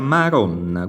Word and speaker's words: Madonna: Madonna si scrive con la D, si pronuncia Maron, quindi diciamo che tendenzialmente qualcuno adesso sta cominciando a scriverlo con la R, io preferisco mantenere la D, anche se pronunciata comunque R, Maron, Carut, Varé e via discorrendo.